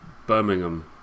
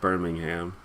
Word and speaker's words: Birmingham: is more closely pronounced Bingham but the one in in America is called Birmingham yeah Disney is actually